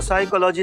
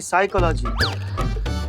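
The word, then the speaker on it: psychology: पिसाई का लागी तो साइकोलॉजी नहीं साइकोलॉजी पी साइलेंट होता है ऐ तुम हो जाओ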